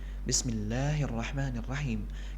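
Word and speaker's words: بسم الله الرحمن الرحيم: Allah dan ar-rahman Bismillahirrohmanirrohim kita harus membacanya sepanjang dua hakekat itu mag fabiai yang sampai kita membaca ban tersebut lebih dari dua harakat karena sering kita dapati juga Hai sebagian orang membaca medium harusnya dua harokat malah lebih dari itu Bismillahirrohmanirrohim dan ini kurang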